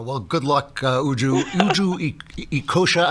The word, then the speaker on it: Ekeocha: Uju Ekeocha. Am I pronouncing your name right? Ekeocha? Absolutely fine.